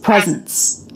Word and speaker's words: presence: awesome Yep also notice in the word presence this letter s makes a z sound present um foreign foreign